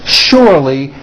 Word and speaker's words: surely: Also remember the words sure and surely are both pronounced with that American SH sound. Shh. Okay, here we go. She sells seashells by the seashore. The shells she sells are surely seashells.